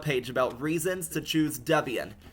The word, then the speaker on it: Debian: To pronounce it, it is Debian with a short e and dub. An emphasis on the first syllable. Deborah and Ian Murdoch. Ian prefers Ian. So it is Debian. Debian.